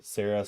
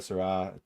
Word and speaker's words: Sarah: And this is actually something that's been promoted by Cardinal uh Sarah Sarah. I've heard it pronounced both ways. the African cardinal Cardinal Sra um that there won't